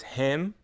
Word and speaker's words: him: When the words him, her, he, and his are unstressed, we often drop the H sound. The H is silent.